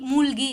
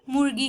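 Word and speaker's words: மூழ்கி: यहाँ पे र साउंड आनी चाहिए, मूழ்கி ऋगी करके। अगर आपको वो प्रोनाउंसिएशन नहीं आ रही है तो मूழ்கி ऐसे बोल सकते हैं। ठीक है, करेक्ट प्रोनाउंसिएशन मूழ்கி है।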